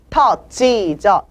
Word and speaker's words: taught: Taught G가 아니라 Taught G죠. Taught G. C를 거꾸로 해놓는 모음이죠. 이거는 아도 아니고 어도 아닌 중간 발음이에요.